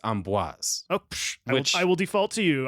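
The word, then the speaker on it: Amboise: for the French people if I didn't pronounce it right go yourself it might be amoa no I it has an S I looked it up I know but a lot of times the s in in French is silent so like um yeah I said but then I looked up a video and and they said it's Amis I will default to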